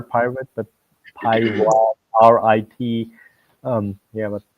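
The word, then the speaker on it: PyRIT: Also from Microsoft, one is called Pirate, interesting enough, but not like the R pirate, but Pirate, RIT, but pronounced pirate, that Mhm.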